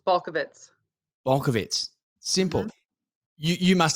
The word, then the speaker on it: Balkovec: ways well funny story i actually said my name wrong for 31 years until i just went to slovenia um last year with my sisters and we actually met some of our family in slovenia and they were like you're saying our name wrong and i was like